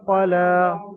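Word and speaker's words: قَلَىٰ: কফের উপর হারাকাত, আর লামের উপরে দেখেন খালি ইয়া এসছে, ইয়াটা পরে আসবে না, লেখায় এসেছে লাম খারা যাবার লা পড়বেন, লাম খারা যাবার, খারা যাবার আলিফ মাদ্দার সমতুল্য, অর্থাৎ লামকে আলিফ মাদ্দার মতো এক আলিফ পরিমাণ টান দিয়ে পড়তে হবে।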